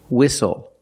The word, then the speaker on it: whistle: We also see the silent T when you have the spelling pattern S-T-L-E. Like these words, whistle, castle, and hustle.